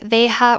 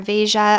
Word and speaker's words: Veja: These are the Veja or Veja. I've heard it pronounced both ways. I like to just call them Veja because that's what I've heard the most.